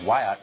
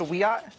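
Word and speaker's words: Wiyot: a member of the Wyatt Tribal Council in California and she joins this site Madison thanks for coming on hey thank you for having me it's pronounced a we are oh thank you I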